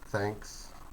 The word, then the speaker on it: thanks: next page page 83 this is the voiceless such as thanks okay uh push the arrow between your tongue with your tongue between your teeth uh between your tongue and your top teeth do not use your voice thanks thanks thanks thanks